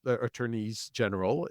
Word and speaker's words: Attorneys General: way though attorney general's Attorneys General is the proper pronunciation though it sounds weird Attorneys General were getting